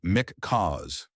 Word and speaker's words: MC Chaos: And get this, a brand new name, the Maplewood Community Kindness and Order Society, MC Chaos, pronounced Mick Cause, like a confused parrot.